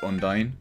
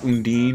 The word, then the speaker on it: Undine: No one will ever convince me that that's not pronounced Undyne. You can call it Undine or Undine all you want. I say you were wrong.